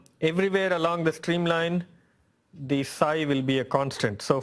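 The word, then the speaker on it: ψ: So this is pronounced psi.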